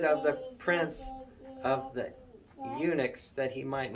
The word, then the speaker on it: eunuchs: the guy that was in charge of the eunuchs that's how you say it eunuchs um daniel proposed in his heart that he